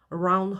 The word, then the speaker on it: around: around her, 원래는 around라고 써주는 글자입니다.